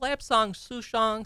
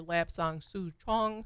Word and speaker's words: lapsang souchong: down the the pronunciation so it's lab song suong Sometimes you hear lab song Su Chong right but the the derivation comes from the the dialect of this region right and La Means